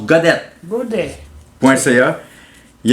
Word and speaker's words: Gaudet: On peut suivre Alain sur son site web alaingodette.ca, pas TTE. Comme Godet, mais que ça se prononce Godette.